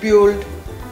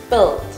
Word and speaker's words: build: Many people often say build, but to pronounce it correctly, we should say build with the short I sound.